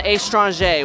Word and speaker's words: Estranja: back in the 1980s so I just kind of flipped it on its own to rhyme with laganja yeah no one's forgot